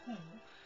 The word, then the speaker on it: हैं: plural form, we say हम ठीक हैं. So the हैं also has that nasal form, sound. So I spell it as H-A-I-N.